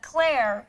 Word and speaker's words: Claire: It is no coincidence that Claire rhymes with air.